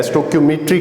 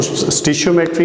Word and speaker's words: stoichiometry: सो स्टोइशियोमेट्री क्या है, स्टोक्योमेट्री क्या है? इसकी 2 प्रोनाउंसिएशंस हैं। वेस्टर्न के अंदर इसको स्टोक्योमेट्री और एशियन में इसको स्टिशियोमेट्री कहा जाता है।